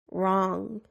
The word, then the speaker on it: wrong: silent P psychology receipt the silent W writing wrong the silent k knife